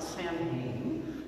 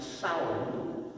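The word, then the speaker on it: Samhain: that word and puzzled that have you actually pronounced that it's not samueline that's how it would look in english but in gaelic it's actually pronounced sour and salmon is the pre-christian gaelic celebration of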